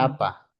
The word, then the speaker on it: Xalapa: Jalapa, Alapa, ok. Jalapa, como México, Jalapa.